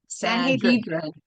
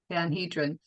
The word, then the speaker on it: Sanhedrin: Sanhedrin. Sanhedrin.